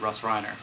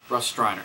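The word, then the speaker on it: Russ Streiner: one it's also produced by John Russo and Russ Riner I believe Russ Steiner Russ Riner his name is alluding me here what up Russ striner sorry I always get that name wrong but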